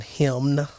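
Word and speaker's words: hymn: say that um so that's h ym n him I'm pretty sure that n is silent dude I know but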